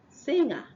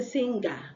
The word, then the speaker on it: singer: Singer. So the N and the G somehow merged and give you that sound. So some people say the G is silent. Okay? So you don't say singer, but singer.